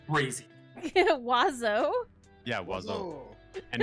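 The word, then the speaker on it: oiseaux: still roll it yeah i know it's crazy wazzo yeah and it's spelt stupid it's o-i-s-e-a-u-x yeah can you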